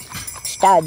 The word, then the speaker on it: Gstaad: Parlez-nous un petit peu de ces chalet de votre ville de Ktad. Est-ce que je le prononce bien ? Stad oui, vous le prononcez bien.